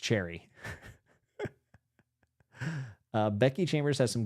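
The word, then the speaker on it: Cherryh: Cherry is pronounced Cherry.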